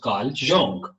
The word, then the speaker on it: Carl Jung: कार्ल जंग ये एक साइकोलॉजिस्ट था, साइकोलॉजी पे जिसका बहुत काम है, कार्ल, it's pronounced Carl Jung.